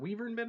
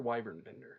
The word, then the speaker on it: Wyvernbender: Is it Weavernbender or Wyvernbender? How do you pronounce it? I mean, you can go either way. I would say Weavernbender, but I know Cosgrove is saying Wyvern. Cosgrove calls you Wyvern.